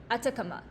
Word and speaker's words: Atacama: new to most of the listeners can you spell it first certainly it's 80 a c a m a Atacama so how dry is the dry spray on